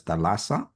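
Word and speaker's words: θάλασσα: So when you look at the word sea in the concordance, in the Strong's Concordance in the Blue Letter Bible, it's pronounced as thalassa.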